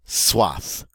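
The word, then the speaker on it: soif: one avoir swass avoir swath and this is one of those words suave where we get to pronounce the final consonant we don't always get to do that and what is a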